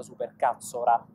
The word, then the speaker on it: supercazzola: una cosa simile è la famosa supercazzola con la R non con la L come tanti la pronunciano di amici miei che